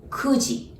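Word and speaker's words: 九時: q or ku right when it comes to time we don't use q we use ku so kuji that's nine o'clock and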